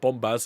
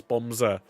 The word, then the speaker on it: Bombser: It's not Bombaz, it's Bombser.